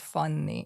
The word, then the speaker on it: Fanni: um name is Fanny it's pronounced funny in Hungarian but in America it just became funny or Fanny so I go now I just say Fanny which is interesting um